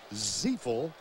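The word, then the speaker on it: Ziifle: Mike Ziefel. It's spelled Z-I-I-F-L-E, pronounced Ziefel.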